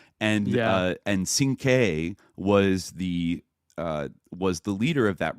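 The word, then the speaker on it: Cinque: after should be pronounced Sinke. Like kind of like a 5, right, or whatever, and he mispronounced it as Sin-Q, so that's how he was known to everybody.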